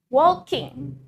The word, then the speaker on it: walking: For example, walking. Walking ada huruf G di akhir. In Irish accent, we pronounce it as walkin. Walkin. Bukan walking, tapi walkin.